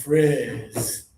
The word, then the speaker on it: frizz: Because it has a letter I, not an EE, your tongue is going to be lower and more air. It's frizz.